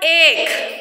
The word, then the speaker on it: ache: Ache and anchor. Ache, it is not H. Okay, it is ache. Here H is silent after the letter C.